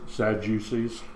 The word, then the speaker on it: Sadducees: 18 then come unto him It's pronounced Sadducees.